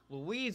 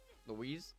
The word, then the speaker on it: Louise: be correct i have louise over here louise not just louis yeah no no it's louise sorry obviously i'm terrible